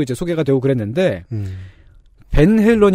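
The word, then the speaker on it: Van Halen: 이제 소개가 되고 그랬는데 밴 헤일런 이라고 부르지 않고 반 할래 이라고 부릅니다 방송 했어요 나 특히 그 발음을 열심히 밀어 주시는 분이 계세요 어 논리가 이렇습니다 네덜란드 사람이니까 네덜란드어로 불러야 된다는 거예요 이렇게 두개 음 90년대 적 혹은 20세기 족발 3 음 사실 네덜란드 사람이 아니에요 네덜란드에서 태어나게 했는데 어렸을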